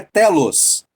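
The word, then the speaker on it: τέλος: E esse fim, a palavra fim que Paulo está usando ali é no grego se pronuncia telos.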